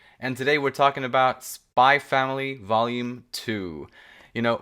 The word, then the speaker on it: Spy × Family: today we're talking about spy family volume two you know my brain still wants to pronounce it spy x family but i'm really making an effort not to pronounce that x but uh but yeah